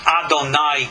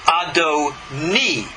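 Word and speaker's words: אדוני: The same letters, Aleph, Dalet, Nun, Yud, are not pronounced Adonai, God, but Adoni, little vowel difference, and it's Sir.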